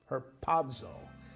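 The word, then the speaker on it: harpazo: chapter 4 in the Greek the word is herzo uh h a r p a z o pronounced herzo from the Greek but whether you're reading Latin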